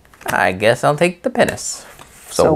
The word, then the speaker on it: pinnace: I never kind of pronounce that right. Is it Pinnace? It's P-I-N-N-A-C-E.